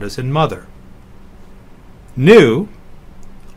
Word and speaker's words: nu: sound as in mother knew often confused with the English V is like the N in nu C is another one